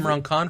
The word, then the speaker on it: Imran Khan: I may be saying his name wrong, but I believe Imran Khan from Fanbyte?